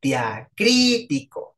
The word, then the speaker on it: diacrítico: como acento diacrítico Sí diacrítico con tilde en la primera I bu Perdón en la segunda y di crtico o sea cri es la sílaba tónica Sí por ejemplo vean